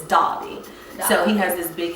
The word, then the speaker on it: Derby: do he say it not Derby it's spelled Derby but it's Dobby so he has this